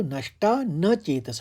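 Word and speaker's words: नष्टानचेतसः: लेकिन जब आप उसको संस्कृत में समझना है तो संस्कृत में जब उच्चारण करेंगे तो नष्टा न चेतस होगा।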